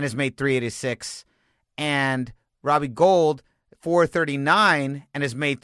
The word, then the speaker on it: Gould: this one go the plus Robbie Robbie Robbie Gould his last name is also you know it's